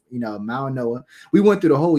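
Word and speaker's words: Mauigoa: I just found out that the G is silent. I was saying Mao go this whole. I was saying Mao go this whole time. So it's Mauanoa.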